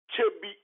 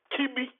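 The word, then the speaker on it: Kyebi: traditional capital is called Chebi. Chebi. Because Europeans could not pronounce Chebi, they pronounce it Kibi, K-I-B-I, instead of K-Y-E-B-I, Chebi.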